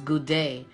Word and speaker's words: Gouda: um I've never had gowder I hope I'm saying it right gouda or data oh it's good day thank you Donna Hammond